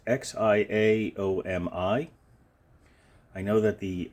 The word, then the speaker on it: Xiaomi: here is xiaomi uh Shia show me it's x i a o m i I know that the X and Mandarin is pronounced with a shh instead of a z or a uh something